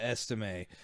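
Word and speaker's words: Estimé: Audric Estime. Is that how you say his name? Yeah, Estime.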